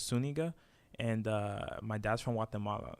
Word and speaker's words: Zuniga: Okay, well, it's Zuniga with the accent on the Enya, so it's Zuniga.